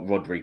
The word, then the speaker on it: Rodri: I get you, but I think that Rodri's the most.